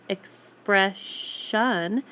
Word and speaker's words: expression: But when you say the word expression, the ION makes the ending sound a sh instead of a s sound. That sound disappears, that S sound disappears.